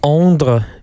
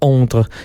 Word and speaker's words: Ondres: They're from Ondre, which is... Have you ever been to Ondre? Well, I've actually been very, very close to Ondre, which is spelled Ondres.